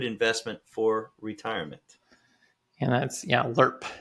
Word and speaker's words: LIRP: And that's, LIRP is the preferred pronunciation of that.